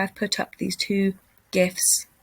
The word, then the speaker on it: GIF: put up these two gifts if you pronounce it jeff wrong surely it's gif um we've got this